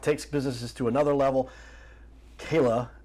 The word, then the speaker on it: Chela: Kayla, I know it's spelled Chela. Yes. But it's said Kayla, and I had to figure that out.